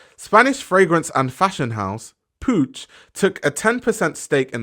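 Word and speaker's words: Puig: lot of them yes that is how you pronounce it's Pooch that's how you pronounce it but anyway when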